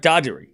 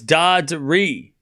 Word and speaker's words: Darderi: No, it's Darderi. Darderi. Darderi. Darderi. Darderi. It's 2-1 Darderi. Darderi. I mean, Darderi does say his name both ways. Okay. Darderi. You skip the R. There's 2 R's.